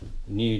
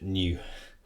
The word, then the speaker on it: nu: i minus one last one that's really helpful new just makes the algebra a little bit easier